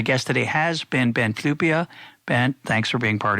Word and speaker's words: Flyvbjerg: I think I got that right, but it's pronounced Flyvbjerg, and we will, of course, have links to